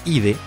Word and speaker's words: idae: Como grupo más basal encontramos a la familia Nimrávide, llamada así por la combinación del sufijo idae, que se pronuncia ide, que es la terminación estándar para una familia biológica, más el género Nimravus.